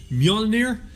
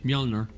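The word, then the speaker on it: Mjölnir: for luca madrid modric don't pronounce the j the j silent um ninety-two percent how was i pronunciation mjolnir that's a lack of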